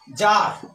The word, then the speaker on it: czar: C plus Z हो तो सी क्या होता है? साइलेंट होता है। जैसे यहां पर CZAR, जार, जार मीन्स होता है रूस का राजा।